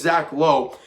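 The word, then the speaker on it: Logue: i think it's zach is it zach lowe something low l-o-g-u-e hey it's how you pronounce i think exactly i think it's zach lowe uh the double-a new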